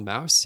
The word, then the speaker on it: Maus: Although, actually, the graphic novel Mouse. Have you guys read that? I read that in high school. Mm-mm. Never even heard of it. Mouse. Man, it's spelled Maus. Yeah, like Yeah. the German way.